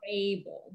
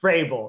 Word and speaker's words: Rabel: How do you say it, just so we know? Rabel. It's Rabel. It's like you put a Y in there and just put it in front of the A or after the A,